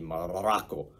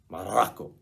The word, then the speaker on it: Morocco: You have to roll your R's when you say Morocco. Anytime you say Morocco, it's got to be Morocco. Morocco.